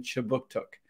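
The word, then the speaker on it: Kjipuktuk: Services conducts business in Chibuktuk, which is how you say Halifax in the Mi'kmaq language.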